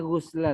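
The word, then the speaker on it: غُسْلَ: Fala ghusla. Ya. Ini bacanya ghusla tadi. Bisa dibantu kenapa kita bacanya ghusla? La nafi. Isim la nafi jinis.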